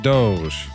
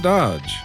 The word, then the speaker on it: DOGE: And to address some comments that I've received recently, yes, I know that they are pronouncing it Doge, but this is my show and I'm going to pronounce it Dodge because that's just easier to say.